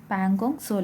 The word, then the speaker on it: Pangong Tso: of pangong dissolic okay or we can say pangong saw like okay so in the pronunciation uh here it is a tea but that is silent so we can say pan gong so lake okay so this lake is a border